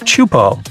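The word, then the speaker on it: Teahupoʻo: all the name itself is a mouthful is pronounced chupo and it means broken skulls in tahan yeah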